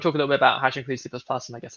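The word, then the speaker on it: #include <C++>: the name of the, I say include C++. Yeah, hash include C++. Hash include, great, cool. So yeah, do you want to talk a little bit about hash include C++ and I guess like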